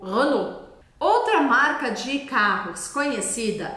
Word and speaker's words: Renault: mostrar que por exemplo a com u em francês vai ter som de o Renault outra marca de carros